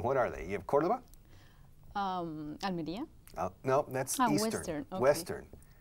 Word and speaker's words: Córdoba: In the West, you have Huelva, Cádiz, Cádiz, Córdoba, Córdoba, Sevilla. and Seville. Seville. De hecho, los angloparlantes que no saben nada español dicen Cordova. Y creo que se escribe con V al final. Cordova en inglés.